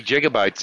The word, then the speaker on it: gigabytes: hurt pronounced with a G instead of a J pronunciation should be gigabytes oh